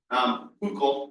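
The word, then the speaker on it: Hückel: Huckel was another one. It's not Huckel's rule, it's Huckel's rule.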